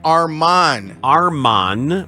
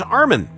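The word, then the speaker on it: Armen: NBA yeah because people used to call him Arman Arman when his name is Armin he changed it to is from a r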